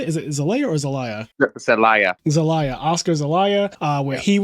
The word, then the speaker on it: Zelaya: Is it Zelaya or Zelaya?